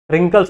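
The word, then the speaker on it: wrinkles: भी व्रिंकल आ गया, रिंकल्स होते हैं ना हमारे, इसको डब्ल्यू प्रोनाउंस नहीं करते।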